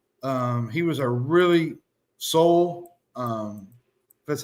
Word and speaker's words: Sowell: They added in Chase Sowell. He was a really soul. That's how you spell it.